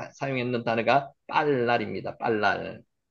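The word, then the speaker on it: בלל: 빨랄. 발음대로 빨랄 나오죠.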